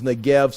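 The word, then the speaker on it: Negev: the NGB the the the Hebrew word the uh the bet it can be pronounced the vet or bet you know either a b or V depending on the thees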